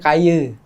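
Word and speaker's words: Kayı: Nah, sebenarnya Kayi itu tuh kita ambil dari nama suku Kayi, atau di Turki itu kan dibacanya Kaye.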